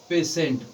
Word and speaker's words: patient: ठीक है, ध्यान दीजिएगा, कह रहा है कि टी के बाद IA, IE, IO हो तो टी का उच्चारण बड़ा स किया जाता है।